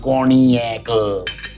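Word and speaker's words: cognac: corac that's the base cornac spelled zg NAC pronounced corac and then a bit of uh homemade R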